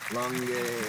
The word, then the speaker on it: Longueuil: Yeah, Longueuil is pronounced like that.